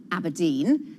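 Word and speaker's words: abrdn: Aberdeen is calling itself Aberdeen. That's Aberdeen without, well, any of the E's. It's spelled A-B, well, we'll show you at the bottom of the screen, and then you'll see, there we go, A-B-R-D-N.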